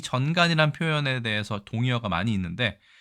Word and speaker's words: 전간: 자, 이 글자는 우리가 전간이라고 읽습니다. 전간. 요즘에는 전간이란 표현을 쓰지 않고 뇌전증의 전용어다 이렇게 얘기합니다.